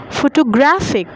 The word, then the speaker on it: photographic: And the third example is photographic. The last part is stressed.